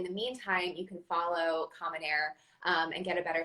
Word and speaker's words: Common Heir: meantime you can follow common air um and get a better sense of all the amazing things that they're doing and it's at common air and like kerry said air is spelled h-e-i-r um which as at